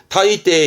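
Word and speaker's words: 大抵: 타이테 이에니르, 타이테 우찌니르 하면서 대부분의 부사로 이 한자를 쓰는데 한자는 많이 보이지 않고요. 발음은 꼭 챙겨 드세요. 타이테는 대부분이세요.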